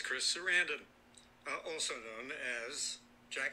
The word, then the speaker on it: Sarandon: and chris sarandon and i've been saying his last name wrong for so long i just pronounced his serendipity sarandan and anyway so i found chris sarandon and i had told